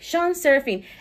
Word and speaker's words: Shan Serafin: SHAN SERAFIN.